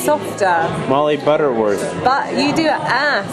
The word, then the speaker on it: Molly Butterworth: pronounce your name properly you just have to soften it why don't you say it to me it's Molly Butterworth Molly Butterworth the uh